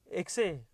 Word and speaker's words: ekse: Sometimes it's spelled EKSE, exe, or some people spell it as EXE. Whichever way, the pronunciation is the same.